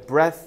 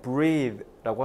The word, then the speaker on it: breathe: 주격 관계 대명사죠 그 이거는 발음 하실 때 breath 아니라 breath고 하셔야 돼 동사에 breath in 빨아들인요